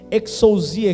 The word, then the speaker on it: exousia: u s e a na pronúncia português exousia exousia significa poder a palavra